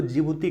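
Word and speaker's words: Djibouti: तो D silent होता है, इसको जिबूती कहा जाता है हिंदी में।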